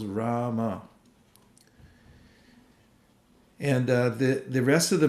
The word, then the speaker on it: Rama: samskars can be overcome by this very powerful mantra, 2 syllables, Rama.